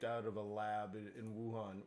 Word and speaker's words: Wuhan: of a lab in Wuhan which is actually ohan because the W is silent but anyways uh whether